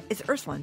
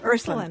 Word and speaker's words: Ursuline: Her latest book is Ursuline. Did I say it wrong? Yes, Ursuline.